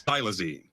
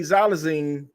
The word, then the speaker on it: xylazine: tranquilizer in this case thylazine it's strong enough for big animals like horses so basically xylazine I've been saying it wrong the whole video so basically xylazine if